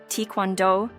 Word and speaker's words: Taekwondo: the captivating history that shaped its Evolution Taekwondo pronounced tondo is not just a sport it's a martial